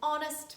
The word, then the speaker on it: honest: because there are some words starting with letter h where letter h is silent and we pronounce a vowel sound instead and we say an honest man an hour an